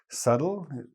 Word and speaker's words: subtle: So subtle, it isn't spelled like it sounds, so I'll write it for you.